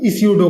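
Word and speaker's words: pseudo: तो दूसरा मैंने आपको बताया दोस्तों फ्लो चार्ट, अब मैं आपको बताने वाला हूं स्यूडो कोड। तो स्यूडो कोड जो होता है दोस्तों, यहां पे जो पी है ये साइलेंट है।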